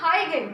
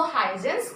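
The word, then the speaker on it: Huygens: ठीक है, उसका नाम था हाइगन। कुछ उसको हाइजेंस प्रोनाउंस करते हैं, कुछ हाइगन प्रोनाउंस करते हैं।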